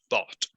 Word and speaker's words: bought: como dices, bought, ok, así es la pronunciación, ok, bought, es una T, sí, una T al final, como que le dijiste es como con K al final, bought, y no, es bought. Bought. Como un robot.